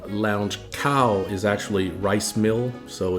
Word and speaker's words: Khaw: to today Lounge cow I know it's spelled Lounge C or whatever but it's pronounced Lounge cow as in food or rice I'm not sure why